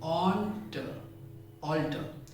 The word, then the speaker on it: alter: पहले शब्द में हम ऑल पर जोर लगाते हैं, ऑल्टर, ऑल्टर।